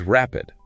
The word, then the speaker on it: rapid: And the alternative is rapid. Stress on the first syllable.